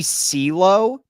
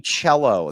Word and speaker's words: cello: Did you say Nifty CeeLo? Is that how you pronounced it? Oh my gosh. That's Nifty Cello. That's how you pronounce cello.